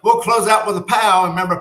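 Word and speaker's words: pau: So we'll close out with a pow. Remember, pow means ending in Hawaiian. So it's spelled P-A-U.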